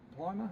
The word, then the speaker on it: Plimer: And Professor Plimer, I think that's how you pronounce it. Yes, it is.